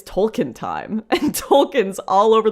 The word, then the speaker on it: Tolkien: It's Tolkien, but everyone says Tolkien. It's just easier.